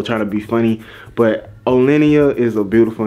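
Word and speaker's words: O'Leniyah: like it's literally o and then lenia lenia o lenia everybody seems like they can't pronounce it but I'm like it's literally so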